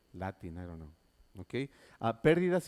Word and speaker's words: pérdidas: Pérdidas y ganancias. Next one. Pérdidas y ganancias. Okay, very good. Can you spell it, please? We don't say perdidas, no. Not perdidas, but pérdidas. Son unas perdidas.